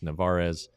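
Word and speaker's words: Narváez: Then he played the hop perfectly and got the catcher at second base, Narvaez is how it's pronounced.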